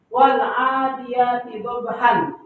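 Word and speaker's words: وَالْعَادِيَاتِ ضَبْحًا: Mat yang terjadi apabila ada fathatain berada di akhir ayat atau tanda wakaf, tanda berhenti. Wal adiyati dhabhan. Dibacanya wal adiyati dhabhan. Kenapa tidak dibaca fathatain?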